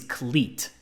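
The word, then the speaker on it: Klete: a name like cleat his first name is cleat like this shoe but it's spelled so wrong k-l-e-t-e colleet what do you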